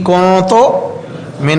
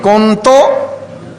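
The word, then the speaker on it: كنتُ: لا الہ الا انت سبحانک انی کنت من الظالمین، تلفظ درست رہے، کنتم نہیں کہنا بھائی، کنتم نہیں، کنتو الگ الگ ہے، کنتو من الظالمین۔ 40 مرتبہ پڑھا، کتنا ٹائم لگے گا؟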